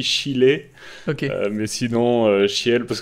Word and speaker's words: Schiele: Il m'a dit si tu veux lui faire plaisir, tu dis Chile.